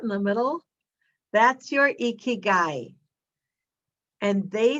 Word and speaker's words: ikigai: of the term ikigai let me see if i got this right ikigai ikigai that's how you say it i had to look